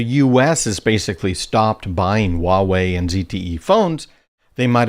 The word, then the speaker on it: Huawei: US Department of Defense Huawei which is spelled hua wvi in case you ever wondered how to pronounce that hua WI one of one of the people that works for me fix my pronunciation it is Huawei Huawei and ZTE devices